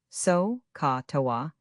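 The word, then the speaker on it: SOHCAHTOA: Generations of students have survived on one magic word, so ca toa. Say it like a sneeze, write it on every page.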